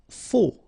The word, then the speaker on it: faux: Faux. Okay, final X not pronounced, then you get this AU together, O, faux.